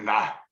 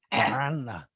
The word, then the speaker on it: Miranda: You got to roll the R's. I can't do that. Miranda. Miranda.